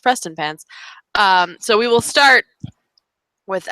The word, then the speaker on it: Prestonpans: much prestonpans um which looks like it should be pronounced differently but is actually pronounced prestonpans so we will start